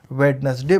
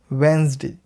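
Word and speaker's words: Wednesday: अगर आप वेडनेसडे बोलते आ रहे थे तो वो गलत हो गया। आपको बोलना है वेंसडे, वेंसडे, वेंसडे करके बोलना है। इसका जो डी है इसकी बिल्कुल भी प्रोनाउंसिएशन नहीं आएगी।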